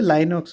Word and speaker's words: LynxOS: अब ये real time में जो बच्चे हुए वो हुए लाइनॉक्स और RT लिनक्स। कौन कौन से? लाइनॉक्स, स्पेलिंग है LYNXOS, ठीक है, लाइनॉक्स ऐसे याद रखना।